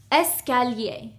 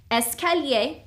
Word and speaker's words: escalier: The first one is escalier. This means stairs, okay? Escalier. The second one is ascenseur. This is an elevator. Ascenseur, okay? Here we have 1, 2, 3, 4 syllables. Escalier.